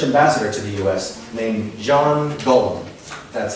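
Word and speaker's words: Jean-Guillaume: named Jean Gollum. That's how you pronounce it.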